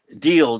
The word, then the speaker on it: Diele: Deal, but you say it like DEAL, right? Yeah. You pronounce it like that.